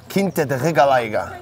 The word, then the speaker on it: Quinta da Regaleira: Quinta da Regaleira. Well pronounced, by the way.